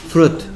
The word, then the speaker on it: fruit: 그러니까 이게 아니고 fruit 일 것 같은데 조심해야 될 게 여기 소리 안 나는 I가 있어요.